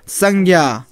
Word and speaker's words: संज्ञा: की साइज क्या बोलते जैसे कहेंगे संग संग बोलेंगे तो क्या होगा वह तो मुंह में 100 हो ही नहीं रहा उच्चारण नहीं हो रहा है वो सांगा तो दांत में लगा एस नहीं लगता है और होगा क्या संज्ञा संज्ञा है ना तो